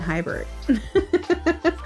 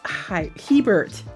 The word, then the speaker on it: Hebert: I have been saying it wrong for years. I'll just put it out there. I have. I've been saying Hybert. So Elias Hebert.